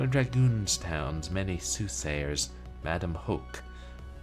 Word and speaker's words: Hoke: One of Dragoonstown's many soothsayers, Madame Hoke, pronounced like you're coughing up a gnarly bit of phlegm, is the real deal.